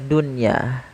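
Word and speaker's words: دُنْيَا: Yaitu ada beberapa kata yang memang itu menjadi pengecualian, tidak dibaca dengan bacaan idgham, yaitu seperti lafal kata dunya.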